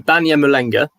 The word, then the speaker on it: Banyamulenge: How would you pronounce this again? So they're called the Banyan Malanga.